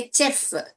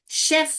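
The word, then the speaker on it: chef: हम क्या बोलते हैं बहुत लोग बोलेंगे चेफ इसको बोलते हैं चे यूज़ करते हैं। मगर हमको चेफ नहीं बोलता है। शेफ बोलना है।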